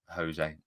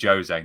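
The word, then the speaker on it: José: Yeah, because it's Portuguese. It's a Jose. Sorry, it's a Jose, not a Jose.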